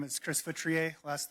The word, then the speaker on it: Feutrier: Hi, my name is Chris Feutrier. Last name is spelled F as in Frank, E U, T as in Tom, R I E R.